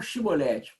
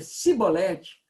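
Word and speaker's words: שיבולת: Então lhe tornavam, dize, pois, Shibolete, aí tinha que pronunciar aquele CH ou o SH, não é? Diga então Shibolete. Quando dizia Cibolete, não podendo exprimir bem a palavra, porque eles não conseguiam fazer esse som, né?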